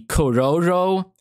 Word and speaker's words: Chrollo: was confident in saying Coro was because the trailer was right about to be shown right because Coro uh if you were to speak it in Japanese pronunciation would be cororo and so the roro